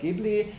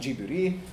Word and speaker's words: Ghibli: Which is "ghib-lee" if you pronounce it in Italian, and "ji-bu-ree" if you pronounce it in Japanese.